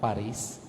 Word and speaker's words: Paris: na po kayo ng Paris kasi sa French silent s yun pari ' ba mga Pilipino